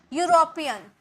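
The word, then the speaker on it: European: यूरोपियन, यूरोपियन, यू, यूरोपियन, यूरोपियन, वाई का sound आ रहा, okay, तो ए।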